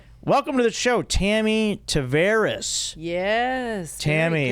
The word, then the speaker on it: Tavares: And I saw the pronunciation of your name from Facebook. Ah, you got your last name. It looks like Tavaris.